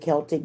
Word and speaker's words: Celtic: I call it Celtic. I like pronouncing it Celtic, but it's actually Celtic.